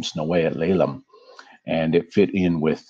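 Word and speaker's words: snəw̓eyəɬ leləm: This name here that is hard to read is pronounced Snowayat Lelam. And this means in the Musqueam or, you know, indigenous people in their language, it means the house of teachings.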